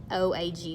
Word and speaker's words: Wampanoag: Squanto and Samoset also helped the Pilgrims make a peace with I never pronounce this right, I always butcher it, Wampanoag. It's Wampanoag.